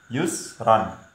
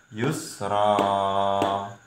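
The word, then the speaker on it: يسرا: tulisannya Tulisannya Yusron Hai ini malah enggak boleh dibaca panjang Yusron tulisannya tapi cara membaca yang benar Yusroh dua ketukan halo hihihi Hai ambilnya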